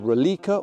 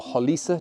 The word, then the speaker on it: Roliça: Well, today we're exploring this beautiful battlefield, if somewhat rainy battlefield, at a place called Rolica or Roliça, depending on how you say it.